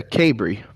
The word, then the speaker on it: Cabre: How do you pronounce it? It's a Cabry.